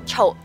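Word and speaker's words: 曹操: Cao Cao pronounced like that as Chou. And so there's Cao Cao or also Chou. Depends on Cantonese or Mandarin.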